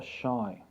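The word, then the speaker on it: Ϣ: a bit different and it's called the shy okay and shy here has got the sh pronunciation but it also is an ancient is derived from ancient hieroglyphs and it makes the sound s h as in shake okay so t shy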